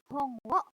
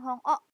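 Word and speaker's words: 本を: Hong wo yonde kudasai. Hong wo yonde kudasai. Ya, ini O-nya bukan hong o, tapi hong wo pakai W depannya ya.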